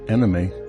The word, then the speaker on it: anime: Anime, pronounced anime in the US, is from a shortening of the English word animation.